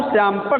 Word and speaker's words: श्यामपट: तामपट। तामपट नहीं, तामपट। तब याद आया इसका नाम तो श्यामपट था।